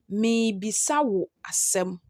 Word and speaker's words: Miribisa wo asem: That is how you write it. But when you are pronouncing it, you pronounce it as Mibisa wo asem. That's the one in brackets, bolding in brackets.